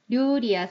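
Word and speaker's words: 料理: 류리야 소지노사교가 오메나노데스가 자 류리 요리죠. 요거 발음 주의를 하셔야 되는데 우리나라 발음이랑 비슷해서 많은 분들이 요리라고 해요. 어 아니고 리를 확실하게 류리라고 하시면 돼요.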